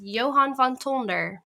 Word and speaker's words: Johann von Tonder: my name so well so you do use the uh dutch presentation that's right and um but i'm so used to it being pronounced in well should we say that the anglicized way but that was really good well done yeah thank